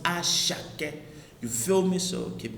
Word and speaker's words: Asake: It's spelled Asake, but it is pronounced Ashake.